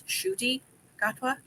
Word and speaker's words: Ncuti Gatwa: say his name and he had said it's shoy gatwa and then I literally